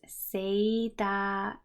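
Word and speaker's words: セーター: And sweater in Japanese is seita. Seita. Both of them have to get lengthened. That's important.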